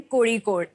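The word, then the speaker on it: Kozhikode: ये IIM कोझिकोड कैसे pronounce करते हैं? ये IIM कोड़ीकोड।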